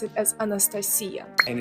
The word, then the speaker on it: Anastasia: we pronounce it as Anastasia and it's definitely not nasty it's nasta Alexander or Alexandra not